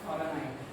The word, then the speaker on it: Voronoi: This is pronounced Voronoi.